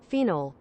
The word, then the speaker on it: phenol: pronunciation phenol phenol phenol ah that was final phenol that's a British person phenol phenol phenol sounds like feet almost definitely some degenerate made that I swear just to say and that British person is right beetle Ashen water listen